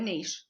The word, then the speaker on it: niche: know kind of built a niche for myself or a niche whichever way you say it right right I think